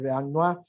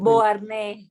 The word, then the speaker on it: Beauharnais: kilos, que tanto criticaba Josefina de Beauharnois, creo que es así que se pronuncia, soy muy malo para el francés, Gabriela, durante su... Beauharnais. Beauharnais, disculpa, durante los primeros tiempos, sí,